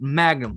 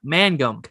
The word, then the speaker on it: Mangum: syracuse magic triple a jake magnum man magnum man gum gum that is jake matt mangum i can't say his name jake mag he's having a tough time pronouncing this so it's jake mangum 26 year old outfield